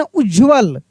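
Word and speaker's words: उज्ज्वल: साथ पूरा जुड़ा है तो उस पे जोर लगता है उसके उच्चारण में जैसे हम लोग लिखते हैं उज्जवल देखिए उज्जवल उ आधा ज फिर आधा ज व ल ऐसे उज्जवल उज्जवल काफी मतलब कि कठिन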